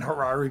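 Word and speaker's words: Harari: Klaus Schwabs boy uvel Harare I like saying Harare because it rhymes with Ferrari but you've all you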